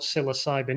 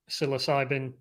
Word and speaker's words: psilocybin: silicon valley silicon valley psilocybin silicon so that's the play on words um basically playing on the kind of silent p in the word and making a joke